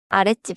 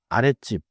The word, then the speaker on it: 아랫집: One more natural point in Korean 옆집 아랫집 and 윗집 are each written as one word. I was tempted to say it like the low house but the normal neighbor is it one word.